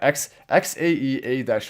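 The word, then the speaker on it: X Æ A-12: X-12 is how you pronounce it. Yeah, XAEA-12.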